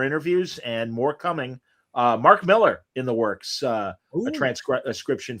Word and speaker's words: Millar: Miller or Millar? I was saying Millar, but he says Miller. Well, yes, Mark says Miller. He said that it was a mispronunciation by North Americans, and he's like, it sounds very classy, but it's Miller. It's just Miller.